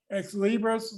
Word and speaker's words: Xlibris: Barnes and Noble, Ex Libris, which is the publisher of the book. That's spelled XLIBRIS.